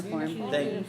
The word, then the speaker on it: cuneiform: How do you pronounce this? Cuneiform.